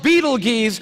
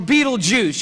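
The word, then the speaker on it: Betelgeuse: heard about this star it's called beetle geese or beetlejuice you can pick your pronunciation i'm obviously going with beetlejuice and beetlejuice is incredible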